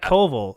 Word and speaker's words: Colville: is wanting some clarification matt covell or matt mercer what did i say it's matt colville okay so not yet